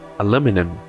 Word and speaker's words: aluminum: Próxima palavra, No inglês americano se fala aluminum. Aluminum. No britânico, aluminium. Aluminium. Se você perceber bem, é tudo uma questão de onde está a sílaba forte.